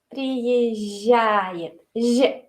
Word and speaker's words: приезжает: Pero decimos приезжает. Las consonantes blandas siempre son más sonrientes. Приезжает.